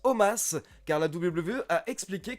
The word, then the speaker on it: Omos: Je précise encore une fois pour tous ceux qui me posent la question que je prononce Omos car la WWE a expliqué que ça se prononce Omos tout simplement.